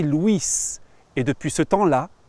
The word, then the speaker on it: Louis: le jeune à park son prénom se prononcer luis et depuis ce temps